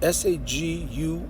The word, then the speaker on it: saguaro: It's spelled S-A-G-U-A-R-O.